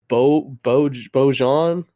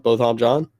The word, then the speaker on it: Botham Jean: who was still in uniform when she killed Bojan. Oh God, Botham. I already forgot how to say his name. Sorry, no disrespect, but I mean it's Botham John. Botham Jean.